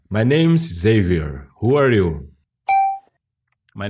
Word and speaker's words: Xavier: My name is not Xavier, as in Portuguese. My name's Xavier.